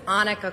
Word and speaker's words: Annika: budget and finance committee my name is annika monica without the m sorry that's okay most